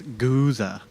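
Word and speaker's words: Gose: out with anybody who pronounces it the proper German way it's Goza like it's like a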